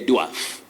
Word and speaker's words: dwarf: that is inaccurate because a and r combine to form the long sound or so you say a